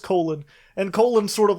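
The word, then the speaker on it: Colon: And then there's Colin or Cologne. How did they pronounce it in the book? Colin. Colin, okay. So it is just Colin.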